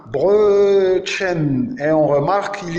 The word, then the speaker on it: Brötchen: Phonétiquement, c'est le E, comme Brötchen, le petit pain, Brötchen. Et on remarque qu'il y a deux types de E. Il y a le O umlaut accentué allongé, comme Brötchen, petit pain, Brötchen, comme je viens de lire.